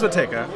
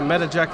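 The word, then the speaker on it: Matejka: And Mateka is the way we pronounce it. But, you hear anything from Mateka to Mateka to Metajeka or Metajedika.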